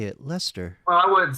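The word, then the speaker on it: Leicester: It's pronounced Lester, Lester, Lester, Lestor. I think I think Definitely ain't less store.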